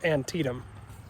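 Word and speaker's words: Antietam: It's pronounced antidum.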